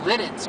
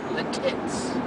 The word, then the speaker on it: Lititz: It's actually Intercourse pronounced Lititz, but people call it Latitz.